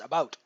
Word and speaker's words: about: about um it's not a boot it's not a you know it's not a boat it it it's about um seems right to us